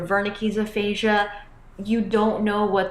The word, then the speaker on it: Wernicke: So in German, the W is pronounced as a V. So you can imagine it one of two ways. Either you're in Germany, you're talking to someone trying to say something in German, and they're like, "What are you saying?" Like they don't understand you. So with Wernicke's or Wernicke's aphasia, you don't know what they're saying.